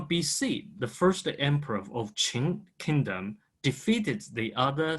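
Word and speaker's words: 秦: But early time, when European people recorded this part of the history, they used a Latin way, which is a Chin, Qing dynasty.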